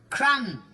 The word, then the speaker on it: crumb: Crumb. Crumb? What do you get in bed when you've been eating biscuits? You don't spell it like that. Don't you? There's a B on the end of it.